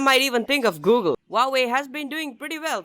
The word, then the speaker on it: Huawei: it I'm pretty sure most people have been pronouncing this name as how are we that's not how you do it you pronounce Huawei that H is a bit silent here now when you